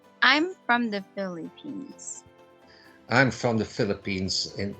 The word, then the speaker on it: Philippines: Philippines. Philippines. They say it Philippines. Philippine. Yeah. E, like C, Philippine. But quick. Philippines. P. Philippine. Philippines. Philippines. But this, put the emphasis on the first Phi, Philippine.